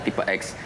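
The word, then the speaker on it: Tipe-X: Jadi filosofinya kan, ini kan tulisannya tipe X, jadi harus bacanya tipe X. Tipe yang beda dari yang lain.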